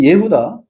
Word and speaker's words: 예후다: 열 개 지파 이스라엘, 두 개 지파 남 예후다. 유다가 아니고 예후다입니다. 구약 성경에는 유다라는게 없습니다. 엘라로 유다인 것이고 예후다예요.